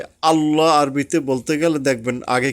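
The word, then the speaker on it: الله: আ লই হ এখানে এই যে আল্লাহ আমরা আকার দিয়ে বলি এটা ভুল আরবি টার্মে ভুল বাংলা টার্মে ঠিক আছে আমরা যে যেভাবে চালাই কিন্তু আরবি এবং বাংলা হুবহু একইভাবে উচ্চারণ করা সম্ভব হয় না আরবিটা আরবি দিয়েই শিখতে হবে তো যাই হোক আল্লাহ হবে আকার হবে না এভাবে লামের আগে ওয়াও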